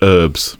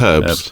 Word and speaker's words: herbs: It's like when they say herbs. No, it's herbs, because there's a H in it.